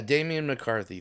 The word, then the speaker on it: Damian McCarthy: Is it Damian McCarthy? Yeah, Damen McCarthy. Thank god I didn't want to be misrepresenting this guy by saying his name wrong.